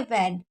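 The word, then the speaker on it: when: हमेशा क्या पढ़ेंगे, वैन, क्योंकि यहाँ पर जो डब्लू होता है, डब्लू एच होता है, और डब्लू एच के बाद अगर ई आता है तो एच साइलेंट होता है, इसलिए इसको वैन पढ़ा जाता है।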